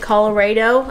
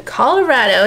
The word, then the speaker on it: Colorado: My former brother-in-law called it Colorado, and that just really stuck with us. We're like, it's time to go Colorado. We know how to say it right. Going to Colorado.